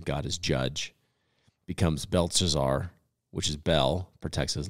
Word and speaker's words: Belteshazzar: Belteshazzar, yeah.